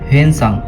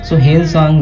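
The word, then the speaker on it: Xuanzang: Next we have हेनसांग। हेनसांग, जुंगजांग, हुनसांग, different pronunciations हैं, लोग अपने अपने अकॉर्डिंग इसको लेते हैं।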